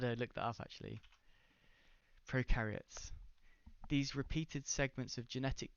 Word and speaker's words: prokaryotes: other fragments of genetic material were identified in prokaryotes, whatever it's called.